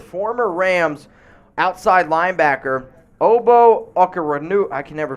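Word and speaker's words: Okoronkwo: to terms with former rams outside linebacker obo oka renew i can never pronounce his last name ogbo oh it's o-k-o-r-o-n-k-w-o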